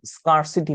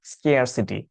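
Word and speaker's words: scarcity: স্কেয়ারসিটি of money, অনেকে উচ্চারণটা হয়তো স্কারসিটি করেন, স্কারসিটি উচ্চারণটা ভুল, ঠিক উচ্চারণ স্কেয়ারসিটি।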